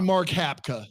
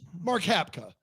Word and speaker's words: Mark Hapka: Oh, I think that's wrong. That's Hap Hapka. It's got to be Mark Hapka. Mark Hapka.